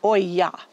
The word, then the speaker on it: olla: amount of water to your plants as needed pronounced Oya okay refill when empty and it has in